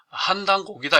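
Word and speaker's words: 환단고기: 이게 이제 앞에 환은 이제 환인과 환웅을 말하기 때문에 환이라고 읽기도 하지만 또 한이라고 읽기도 합니다. 그래서 이거를 읽을 때는 환단곡이라고 읽지 않고 한당곡이다 이렇게 한당곡이, 그러니까 환인 환웅과 당군에 관한 오래된 기록이다.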